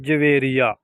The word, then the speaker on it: جویریہ: नाम है जवेरिया। जवेरिया नाम के इंग्लिश में स्पेलिंग है JAVERIA, जवेरिया।